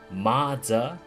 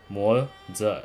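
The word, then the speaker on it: Moze: It's not Ma-za. It's not Lo-fu, okay? It's not Tofu soup like Lu-fu, okay? Because that's how I spelled my username. It's L-U-O-F-U. Mo-za. Yeah. See? You can spell it right. You can say Mo-za.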